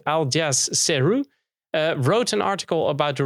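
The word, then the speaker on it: Aljaž Ceru: check it all and the founder i let's pronounce the name right aljaz ceru wrote an article about the release of their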